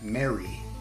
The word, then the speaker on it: mare: the Moon are called mare the normal commoner would pronounce it as it sounds esoterically it's pronounced Mary the names of the